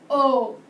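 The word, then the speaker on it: aux: A plus les equals o. You still pronounce o like the letter O.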